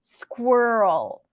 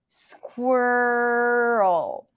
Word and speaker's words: squirrel: so Squat and then it's a stir sound squir right and then think of it as if it turns into a strong R and then an L so squirrel squirrel squirrel there is no e sound here it's all stir it's all reduced okay world again let me